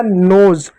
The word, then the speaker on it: nose: अब एस को स नहीं पढ़ोगे, यहाँ पर क्या पढ़ोगे, यहाँ पर इसको पढ़ोगे ज पढ़ोगे, ज। ई साइलेंट होगा तो क्या हो गया नोज।